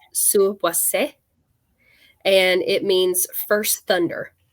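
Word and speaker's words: Suuwassea: That's not the correct pronunciation. I'm just used to saying it like that. It's from the Crow language, because where we dig is on the ancestral lands of the Crow peoples. I think it's correctly pronounced Suwase, and it means first thunder in that language.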